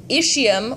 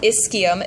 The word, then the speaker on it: ischium: large region up here the ischium or ischium it depends on how ever you want to pronounce it is this back portion